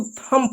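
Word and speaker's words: thumb: एम के बाद बी आया तो बी साइलेंट होता है। तो लम पढ़ा आपने इसको थंब नहीं पढ़ा। इसको थंब पढ़ते हैं। बी साइलेंट होता है।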